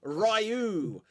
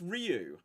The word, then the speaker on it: Ryu: movie they clearly say rayu and why you defending that movie Loud before 1994 why are you defending so how are you how are you supposed to pronounce it right well apparently is Ryu but when you watch